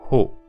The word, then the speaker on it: ほ: Encore une fois, c'est pas o. Si vous dites o, ça va être ce hiragana-là qu'on a appris dans la première vidéo. C'est pas o, c'est ho. Il faut bien prononcer le H.